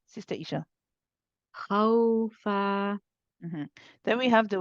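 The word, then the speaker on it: خَوْفًا: After saying ha, you switch to a nice light waw. And the back of the tongue has to be very relaxed, and the back of the mouth should be very open and clear. There should be no lifting of the back of the tongue or pushing back of the tongue, anything like this. You relax that when you are saying the waw.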